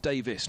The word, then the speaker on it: Davies: uh I'm done with it's dick Davis not Davies but middle sex have Davies spell Davies dick Davis is spelled Davies but he's dick Davis so all those years